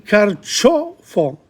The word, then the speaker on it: carciofo: Artichoke, il carciofo. C-I-O, cho. The C-E. C-I-C-E, it's ch sound. Carciofo.